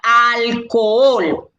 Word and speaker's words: alcohol: ustedes con el trabajo la ancce es muda la h no existe la h es como el collar que yo tengo el anillo que yo tengo el reloj que yo tengo el alético que yo tengo los lentes que yo tengo el ganchito que yo tengo es un entorno en una palabra adorna la palabra ella no suma ni resta entonces ustedes la tienen que ignorar si usted ve